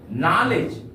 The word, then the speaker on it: knowledge: ठीक उसी तरह से दूसरा एग्जांपल लेते हैं प्यारे बच्चों, KNOWLEDGE, नॉलेज। यहां पर जी के पहले डी का प्रयोग किया गया है, डी का उच्चारण यहां पर नहीं होगा।